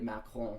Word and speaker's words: Macron: And it's funny how I say France, but I say Emmanuel Macron. It's like I pronounce Macron's name properly, but I don't pronounce France properly.